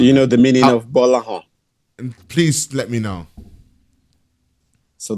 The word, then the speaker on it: Gbolahan: Gbolahan. Gbolahan. Oh yeah, not bad. Because the G and B is one alphabet together. They're not separate. It's GB and it's pronounced as B. Gbolahan.